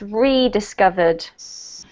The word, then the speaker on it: rediscovered: This one here, with the when we have an RE at the beginning, it needs to be pronounced with the long E, so it's rediscovered. Rediscovered. Yeah, there you go. That makes it's the same for every word with re in front of.